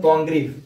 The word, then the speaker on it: Congreve: Love for love और द वे ऑफ the world, ये दोनों लिखा गया है विलियम कॉन्ग्रीव, उच्चारण ध्यान में रखेंगे, विलियम कॉन्ग्रीव के द्वारा।